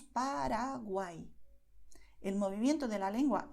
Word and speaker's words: Paraguay: dólar, pero la diferencia es que la lengua es más rápida y hay menos contacto. Solo usamos realmente la puntita de la lengua. Por eso diremos Paraguay.